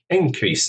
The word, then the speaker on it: increase: increase something an increase stress on the first syllable is the noun actually this is um